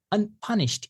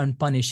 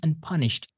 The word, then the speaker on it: unpunished: Unpunished. It is not unpunished or unpunished, it is unpunished. In English, if a verb ends in a sh sound, the pronunciation is going to be checked, unpunished. Next one is merciless, from mercy, merciless.